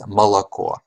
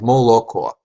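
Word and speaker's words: молоко: O, separated by consonants, and the standard pronunciation is malako. So we have malako. But with the okanya variety, it's keeps the O's, all of the O's are retained, even in unstressed syllables. So we have moloko. So the standard again is malako, and the okanya variety is moloko.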